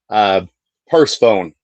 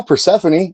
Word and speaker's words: Persephone: Like there's an episode out there where I literally said purse phone. Because I read it. I was reading. I know Persephone. I know how to say it, but I said purse phone because I was reading it, and I was like, you know what?